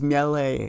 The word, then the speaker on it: Mele: Her name is Mele. It's Italian. Get it together.